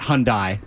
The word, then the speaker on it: Hyundai: It's definitely not Hyundai. It's Hyundai.